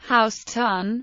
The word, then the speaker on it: Houstoun: early 19th century orthography John Houston pronounced his name house ton and that pronunciation has been adopted in the locals named in his honor